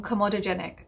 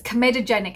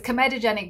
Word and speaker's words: comedogenic: you may have noticed that i've changed my pronunciation from comodogenic to comedogenic and the reason being that my